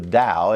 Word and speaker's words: Tao: about the the dow it's it's tao but it's it's pronounced the dao and it's a it's